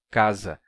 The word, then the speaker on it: casa: ter aa casa e é por isso que o s entre vogais se pronuncia como Z casa porque ele ganha a